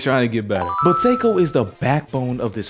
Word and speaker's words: Seiko: I was informed in my last video's comment section that I was pronouncing Seikko's name wrong. I was pronouncing it as psycho, ironically enough, but thank you for correcting me.